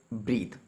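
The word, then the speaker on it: breath: देखिए जहाँ पर हमने यूज़ किया वर्ड ब्रीथ, इसके पीछे ई लगा है, जहाँ पर ई लगी होगी वो वर्ब होता है और उसकी प्रोनाउंसिएशन होती है ब्रीथ।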